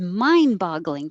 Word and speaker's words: mind-boggling: to me it is that t changes to a d and i don't really make a d on mind i just hold my tongue there mine and then go to boggling it is mind-boggling to